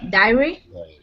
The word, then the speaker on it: dairy: I sound, and dairy has the long A sound.